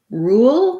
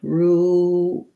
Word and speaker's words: rule: rule and ruler um so for rule because it's one syllable i have the oo sound rule and then i have a dark l so there's a little bit of a schwa sound before my l rule and when i glide